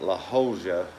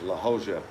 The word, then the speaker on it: La Jolla: J spelled like it, pronounced like an H, and a double L is pronounced like a kind of an H sound.